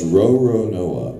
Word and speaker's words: Roronoa: No, it's Roronoa.